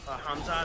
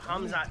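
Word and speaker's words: Khamzat: supposed to be fighting KMOD hamzad I guess is how you pronounce his name no hamzat shamaya he was supposed to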